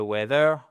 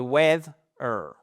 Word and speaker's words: weather: We voyez en fait votre première syllabe, elle va jusqu'à là et vous avez une accentuation qui est votre stress sur la première syllabe. C'est pas the weather. Non, the weather.